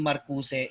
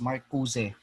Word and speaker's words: Marcuse: also another is you also need to yung pronunciation ng nung name ni Marcuse is not Marcus, it's Marcuse.